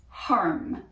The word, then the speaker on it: Harm: is a voice name and the name is harm h-a-r-m if you speak german or dutch then